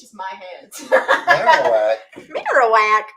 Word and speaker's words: Marowak: Marowak. Marowak. Oh, I said Marowok. My bad. I can't pronounce Cuz it's Maro because it's bone. Oh, because it's the marrow of the bone.